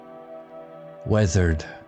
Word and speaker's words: weathered: Weathered sounds like weather. The ea sounds like feather.